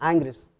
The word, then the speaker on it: Ingres: el pintor francés ingres se escribe inglés se pronuncia inglés y fue creada en